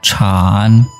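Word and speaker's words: 产: Contoh lain kalau misalnya kita tambahkan bentuk seperti ini, bacanya adalah Chan, artinya produksi atau industri ya.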